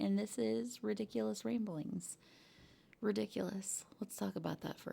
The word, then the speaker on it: Riddickulous: Ridiculous. Let's talk about that for a second. ridiculous as in whoa, that's crazy. That's insane, but I do spell it a little bit differently.